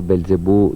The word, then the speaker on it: Belzebub: Ma è Belzebù o Belzebub, come si legge sui programmi? Si legge, cioè si scrive Belzebub, però la B finale viene tagliata.